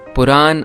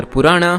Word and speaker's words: Purana: Puran or Purana, however you want to pronounce it, literally means old or ancient stories.